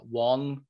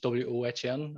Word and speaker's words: Wohn: I've got a couple of tracks from brand new friend, Wohn. I think it's pronounced W-O-H-N. I'm assuming it's Wohn. It sounds like John. Sorry, it sounds like John with a W.